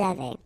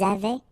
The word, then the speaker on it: avaient: Ils avaient, so look here, E-N-T, you write them, you don't pronounce them. So you get phonetically avait, exactly the same thing that we had here, here, and here.